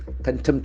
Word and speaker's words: contempt: Contempt of court is always the contempt. It's a beautiful word. Contempt. The accent falls on the second syllable.